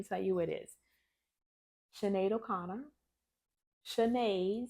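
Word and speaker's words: Sinéad O'Connor: Ado let me tell you what it is Cheno Conor Chen spell s i there is no h but it's pronounced chenade o Conor and she will correct you on it I'll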